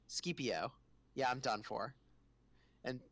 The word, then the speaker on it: Scipio: Oh, but CPO is pronounced Scipio.